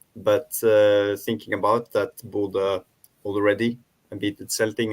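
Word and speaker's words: Bodø: excuse me can you can you tell us the the exact pronunciation of bordeaux i'm a bit yeah because normally the team is the both names buddha and glimpse yeah the city is buddha but buddha glimpse yeah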